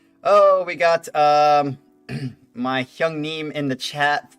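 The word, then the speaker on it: 형님: Hyung Neem.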